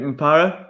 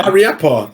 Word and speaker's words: Mariappa: Is it Mapara? How do you say it? Mapara? No, the Watford one. How do you say his name? Mariappa.